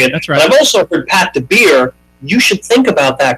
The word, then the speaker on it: Pat DaBiere: I've been pronouncing it I've also heard Pat De Beer you should think about that because that sounds cooler yeah people have been that up forever so but so it's it's DeBerry right DeBerry yeah y all right okay you got it